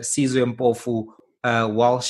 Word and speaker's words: Sizwe Mpofu Walsh: Because I know you've got the Sizwe Mpofu Walsh show, SMWX, right?